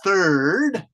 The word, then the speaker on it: third: That TH has to be kind of strong, you guys. So I'll get close to the computer and say third.